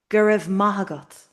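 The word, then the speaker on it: go raibh maith agat: So we're stressing the ma because ma means good. Maybe you remember good morning. Majin wa. So gur mahagot. The other words are grammar words. You know that it were, may it be at you. But ma is the real word here.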